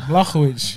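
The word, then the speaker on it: Błachowicz: Shout out the pronunciation on that, bro. Thank you, Mizza. Blachowicz.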